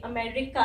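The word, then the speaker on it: America: आ रही है ए, बड़ी ई नहीं आ रही, ए आ रही है, ठीक है, अमे, अमे, और फिर आर का आ गया र, और ये जो आई है ये छोटी ई आ रही है, एंड इसीलिए ये अमेरिका है, अमेरिका, ठीक है।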